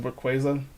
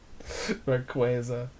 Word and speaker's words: Rayquaza: Rayquaza. Sounds like a Spanish word for like Raquel. Yeah, hey, Rayquaza, come here.